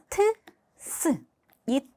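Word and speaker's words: ц: 새 세이 발음은요 트스이 트스 알파벳 두 개를 붙여서 같이 빠르게 발음을 한다라고 생각하시면서 발음을 하시면 최대한 비슷하게 발음이 발음을 하실 수 있을 거예요.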